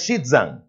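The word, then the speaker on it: Xizang: Tibet in China is called as Shidang and you pronounce it as Shitzang.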